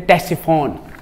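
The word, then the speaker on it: Ctesiphon: उसको कहते हैं टेसिफोन। हाँ, ये मैं लिखूंगा यहाँ पे, सी से होता है, हाँ, सी साइलेंट है, टेसिफोन।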